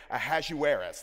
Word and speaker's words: Ahasuerus: I may call him King A because I hate trying to say Ahasuerus.